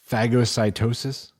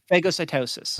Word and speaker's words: phagocytosis: Oh, wrong emphasis on the A. I don't actually know that. I could look up a pronunciation. Mm-hmm. I was not trying to make it funny. I just thought that's how you pronounce it. No, I know you're not. I wouldn't ever think that you were. It is So long A, phago, like the pop?